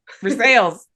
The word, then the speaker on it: Versailles: for sales. Christmas in Versailles. I mean, I know Christmas in Versailles. It's going to be pronounced Versailles.